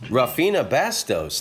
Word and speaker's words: Rafinha Bastos: stand-up comedian rafinha Bastos ladies and gentlemen did I say it right yeah you did I did rough years